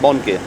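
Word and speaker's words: Bonnke: you say the last name B run at Bon it's an unfortunate name because obviously youngsters say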